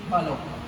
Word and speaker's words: hallo: In English we used to say hello, but in German it is hallo. Here A will come, and A will pronounce as A, so it will be hallo.